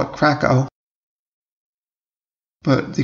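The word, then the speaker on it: Kraków: leo express i took them from prague to krakow in poland a lot of americans call it krakow but the correct pronunciation is in fact krakow so there's the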